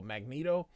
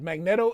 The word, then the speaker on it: Magneto: Magneto, it's really Magneto, but I say Magneto because most people say Magneto, but it's Magnet with an O.